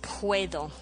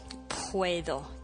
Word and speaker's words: puedo: a lot it's puedo puedo p-u-e-d-o and remember the d in spanish is very subtle it's almost like when you say thank you and you see where your tongue come goes with the th you almost put your